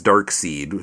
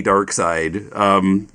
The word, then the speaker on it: Darkseid: brother and I were reading his name as dark seed so we didn't get the the joke of his name but you know yeah there was a GI in English hard to pronounce lad but yeah I guess it's supposed to be dark side but that seemed might